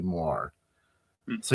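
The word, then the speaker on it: moiré: Moires, is that how you pronounce it?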